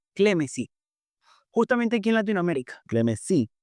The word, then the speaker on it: Clemesí: Clemesí, sí, tiene acento en la Sí, I.